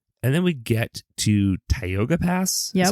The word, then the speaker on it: Tioga: And then we get to Tioga Pass, is how you say it?